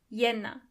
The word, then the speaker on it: Januar: Yenna, February, Mars, April, May, Uni, Julie, August, September, October, November, December.